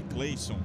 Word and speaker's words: Cleisson: pelo cleisson pelo cleisson é porque o nome dele é cleison se a gente fosse levar ao pé da letra mas aí é pronúncia é cleison enfim não tem lo